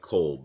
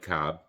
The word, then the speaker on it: Cobb: If you didn't know how to pronounce his last name, you might say Mike Kolb, but believe me, it's Mike Cobb.